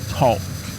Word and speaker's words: talk: and it says that the word walk and talk that the L is not pronounced okay what is wall Walk Tall talk it's not Tac it's